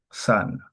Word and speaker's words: sun: Ça, ce n'est pas là, c'est-à-dire la prononciation originale de cette voyelle. C'est la deuxième. OK? Sun.